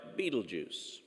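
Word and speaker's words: Betelgeuse: so regarding the star beetlejuice and yes that's how it's pronounced just like the character in the tim burton movie now beetlejuice has been dimming and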